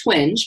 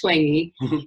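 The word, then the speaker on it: Twenge: called ijen and by 20 it looks like twinge but it's pronounced 20 and she's a fantastic job of researching you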